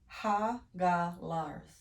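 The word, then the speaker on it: Hagalaz: Pronounced Hagalars. Hagalars is the rune that literally means hailstones.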